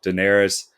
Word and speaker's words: Daenerys: how do you say your name diet uh daenerys yeah daenerys the queen of dragons amelia clark plays her